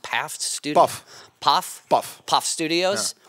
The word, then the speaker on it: PAF: Is it pronounced PAF Studio? Puff.